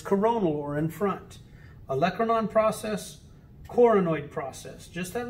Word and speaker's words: olecranon: of the ulna is called the olecranon or some people say olacranon that is the tip